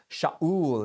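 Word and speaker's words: שָׁאוּל: wealth and his son was named Saul or Shaul is how it's pronounced and that comes from the verb shaal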